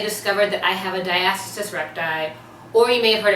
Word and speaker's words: diastasis recti: 30 weeks I discovered that I have a diastasis recti or you may have heard it pronounced a diastasis reti it's the same thing but it's a condition